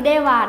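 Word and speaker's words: では: Từ de wa đọc là de wa, không đọc là ha các bạn hề.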